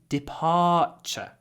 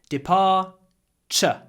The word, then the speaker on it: departure: I have so much to do before my departure. Произношение важно, когда у нас есть T-U-R-E в конце, мы говорим ч. Просто ч. Departure.